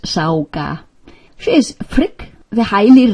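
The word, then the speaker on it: Sága: We are now seers, like goddess Sauga, pronounced Sauga.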